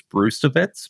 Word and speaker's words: Brzustewicz: So it's he's told people that it's Brustewicz, but sometimes with these